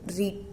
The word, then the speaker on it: writ: लेख बोलते हैं हिंदी में जिनको, और इंग्लिश में बोलते हैं रीट। ठीक है, कभी स्पेलिंग भी आ जाती है तो WRITE।